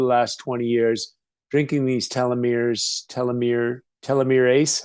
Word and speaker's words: telomerase: So it sounds like I've been really on track for myself for the last 20 years, drinking these telomerase. How do you say it? Telomerase.